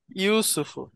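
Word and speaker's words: يوسف: আচ্ছা এটা উচ্চারণটা কি হবে? উসুফ, ইউসুফ। ইউসুফ।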